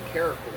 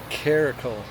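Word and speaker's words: caracal: He is a African caracle. Caracle. That's how you say it now.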